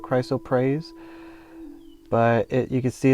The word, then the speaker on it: chrysoprase: and this one is called chrysoprase or chrysophrase. It depends on who spells it. I think it's spelled Prase, so I call it chrysoprase.